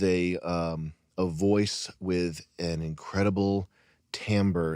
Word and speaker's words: timbre: It's sort of the same thing as like letting someone with a voice with an incredible timbre. Is that how you pronounce it, Chris? Yeah. An incredible timbre, smoking and being deep and letting their voice wash over you.